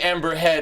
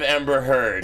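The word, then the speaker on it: Amber Heard: give you crap for saying Ember head instead of Ember herd is that what it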